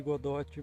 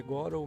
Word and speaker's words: Godot: No caso, Unity, Unreal e Godot, que eu chamo de Godot, mas eu sei que a pronúncia é Godot, mas eu já conheço desde antes de ter uma pronúncia correta.